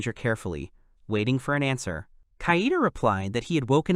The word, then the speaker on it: Kaede: The other one corrected him, clearly pronouncing the name Kaida.